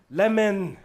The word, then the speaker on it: Lemn: it means Y and it is pronounced by Ethiopians and myself lemon with a name like